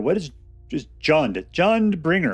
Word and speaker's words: Jundbringer: Today on Uncommonly Good MTG, we're playing a deck called Junebringer. What is just Jund? Jundbringer. I always pronounce it June. I always pronounce it wrong.